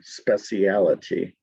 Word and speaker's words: speciality: Page 37, line 34, speciality would be the proper way to say it in Britain, speciality.